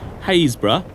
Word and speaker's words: Happisburgh: Haysborough, or as it's spelt, Happisburgh, the cliffs are retreating at a yard a year.